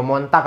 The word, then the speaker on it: Montag: bahasa Inggris ke ini montag hayo Mon tak apa montag ya Monday Monday